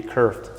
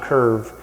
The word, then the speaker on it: kerf: So in just a clarification, sometimes the pronunciation is actually kerf, K-E-R-F, and that's the correct term there. It's not curb, it's not curve, it's actually a kerf jamb, K-E-R-F.